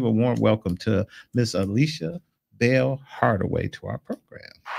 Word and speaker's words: Ayesha: You are in a good number of folks who want to throw an L in. It's Ayesha.